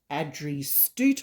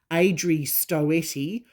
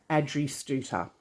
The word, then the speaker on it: Adrie Stoete: reached out to me and clarified how to pronounce her name correctly which is actually Adrie Stoete (Ad-ree St-oo-ter) not what we usually hear which is Ay-dree Stoo-et-tee or Ay-dree Stow-tee, her name is actually pronounced Ad-dree Stooter.